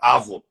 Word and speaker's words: avo: avô interessante falam né porque a entonação é na sílaba diferente mas é avo mas todo avô é